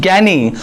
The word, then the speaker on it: gyne: Third आता है ज्ञानी, नॉट ज्ञानी, इसका प्रोनाउंसिएशन इज ज्ञानी, GYNE, ज्ञानी का जो मतलब होता है, इसका जो सिंपल सा जो मतलब होता है, that is a means of females.